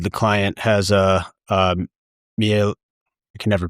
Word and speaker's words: Miele: Um for example, the home we're building in Westwood, the client has a um Miele I can never pronounce it.